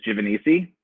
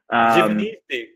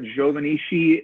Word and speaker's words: Giovanisci: So my last name is pronounced, or the way I pronounce it is Giovanisci. Giovanisci. Oh my Giovanisci. God. Yeah. There are other pronunciations of it. Giovannisci is, I think, the correct Italian pronunciation.